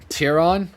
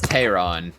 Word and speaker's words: Tehran: what's hira is it what's how's it spelled tyron tyron yeah tiron that's how i remember it being spelled but i might be misremembering oh it's tehran is how it's pronounced it